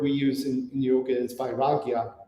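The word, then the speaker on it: vairāgya: and the word we use in yoga is by ragya it's it's spelled v-a-i -r-a-g-y-a and it's interesting that um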